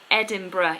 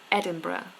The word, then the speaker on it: Edinburgh: is a girl um some people conf confuse pronouncing Edinburgh yes the place Edinburgh the the city in Scotland Edinburgh Edinburgh is not Edinburg but Edinburgh Edinburgh um immunologist immunologist opportunity